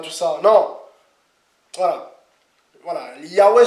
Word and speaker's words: Yahweh: Yahweh, c'est le nom, c'est la prononciation qui se rapproche le plus, hein, qui est plus près. Voilà. Parce qu'on a perdu la prononciation exacte.